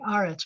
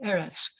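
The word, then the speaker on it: ארץ: a cool thing because when it comes at the end of a word at the end of a phrase it's going to be arets but the word is really eretz so there's something i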